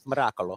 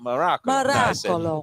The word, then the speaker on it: Miracolo: it's Miracolo. Miracolo. Miracolo. You have to roll the R. Miracolo.